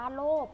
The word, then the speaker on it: โลภ: ยีราฟ ผ่าน ว่า ยีราฟ อย่า โลภ อ่าน ว่า โลก นะ คะ อัน นี้